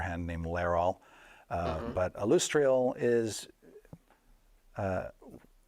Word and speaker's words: Alustriel: silver hand you you'll see her name is pronounced alustriel oh okay who is I'm G to be